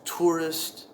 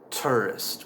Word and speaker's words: tourist: I pronounce it as tourist, t plus the sound, and finishing off with, but some people pronounce it tourist with a eer sound.